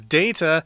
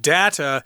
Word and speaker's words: data: to have other technologies I did want to mention the word data there Stephanie and myself both pronounce this word as data but data is also correct okay now people can